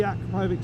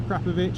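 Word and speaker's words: Akrapovič: it's pristine, it's got the Akrapovic silencer, or Krapovic if you want me to pronounce it correctly, and it feels like a brand new bike.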